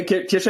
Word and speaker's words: Kesha: Kesha, meanwhile, first of all, am I pronouncing your name correct? Yeah, Kesha is good. It's good. You can say Kesha, perfect.